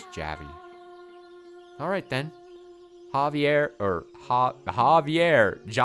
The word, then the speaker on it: Javi: Javi. What? My name. It's not little man. It's Javi.